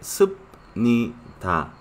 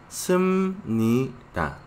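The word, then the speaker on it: 습니다: En lugar de, bueno, se escribe sub-ni-ta, pero se pronuncia sum-ni-ta.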